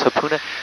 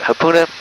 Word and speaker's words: Hapuna: yeah mon Beach is super nice so is Hapuna Hapuna is easier to get to because it